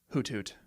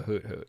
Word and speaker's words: Hoothoot: I think we're mispronouncing it. Hoot Thoot. Hoot Hoot. Hoot Thoot. Hoot Hoot. Hoot Thoot. Look at it. HOOTHOOT. Hoot Thoot is an upgrade as well.